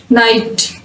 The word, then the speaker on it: night: Combination of जी एच is usually silent after a vowel sound. किसी भी vowel letter के बाद अगर जी एच लिखा जाता है तो उसमें इनका जो कॉम्बिनेशन है वो साइलेंट होगा, जी और एच दोनों साइलेंट होंगे।